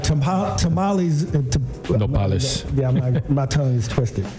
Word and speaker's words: nopales: Nopales.